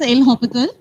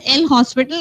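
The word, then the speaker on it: L'Hôpital: IND determinant forms by actually pronunciation is El hopal elop and you you have seen the spelling this is the spelling it's not l hospital it is L Hy and how will this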